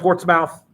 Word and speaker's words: Portsmouth: the war aj portsmouth spelled port's mouth pronounced portsmouth and what did the